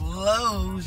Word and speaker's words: Lowe's: There's Lowe's, you guys. Rhymes with Slows, which is what everybody in the parking lot is.